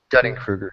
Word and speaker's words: Dunning-Kruger: Dunning-Kruger, yeah.